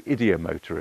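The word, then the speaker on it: ideomotor: movements are called the idiomotor effect I believe that's how it's pronounced I believe it's ID from the psyche uh motor obviously to do with the muscular movement of the body okay so that makes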